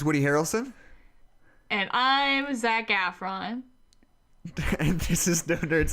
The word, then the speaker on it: Efron: but it's pronounced Zac Efron, not Efron. He's not French.